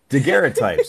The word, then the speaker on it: daguerreotypes: i pronounced it correctly daguerreotypes because it's a french word and i'm terrible bonjour